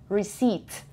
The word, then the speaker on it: receipt: your cds and a receipt receipt receipt p is silent between you're in a